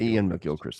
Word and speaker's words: Iain McGilchrist: master in his emissary uh how do you pronounce his name um uh Ian mcgilchrist Ian Ian mcgilchrist I got it right then yeah yeah I